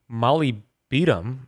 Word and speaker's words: molybdenum: Phosphorus, iodine, manganese, molybdenum.